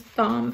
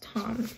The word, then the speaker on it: Thom: But I was pronouncing his name as Thom forever because it's T-H-O-M. But my boyfriend says his name, it's pronounced Tom. So I'm gonna pronounce it Tom for now.